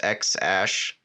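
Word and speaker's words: X Æ: and his squished yeah it's pronounced like ash so that that symbol is a Sparrow's ash so it's X ash and then a twelve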